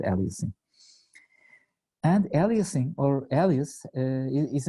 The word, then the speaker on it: aliasing: pronouncing it it's called aling Uh in Middle Eastern and tur in Turkish way people usually tend to call it Elias which is not correct it's aling so just